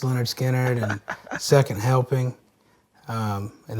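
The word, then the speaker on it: Lynyrd Skynyrd: like um Filmore East and uh pronounced yeah pronounced Leonard skinnard and second helping um and then later Robin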